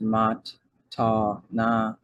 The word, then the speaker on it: matana: It says the Hebrew word matana, pronounced mat-ta-na, means gift and is a Nasarean sectarian term for the first form of salvation.